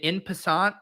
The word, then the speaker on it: en passant: Pete must explain what is it in passant? Is that pronounced right? It's a French term. Yeah, I know it's fucking French, Liam. Oh yeah. Okay, I'm sure you knew that. It fucking rhymes with croissant.